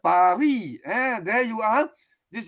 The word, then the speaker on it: Paris: So, of course, we English speaking say Paris. That's the way you pronounce. But you're in France, it's called, the S is silent, Paris.